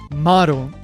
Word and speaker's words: Maron: That daughter is named Maron. Note that the ma is a long syllable. Krillin's ex-girlfriend is Manon. It has a short ma.